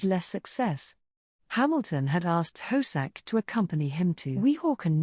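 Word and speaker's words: Hosack: hosak pronounced horse ick is not a household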